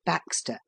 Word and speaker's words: backstays: without the aid of backstays, pronounced Baxter, a simple contrivance somewhat upon the principle of snowshoes.